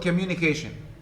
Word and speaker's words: communication: secondary stress for example the word communication communication the ministers falls on uh the penultimate syllable the syllable before the last on k communication